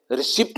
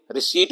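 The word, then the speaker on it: receipt: बहुत से नए मैंने वर्ड की प्रोनाउंसिएशन, जैसे रिसिप्ट नहीं बोलते, रिसीट बोलते हैं।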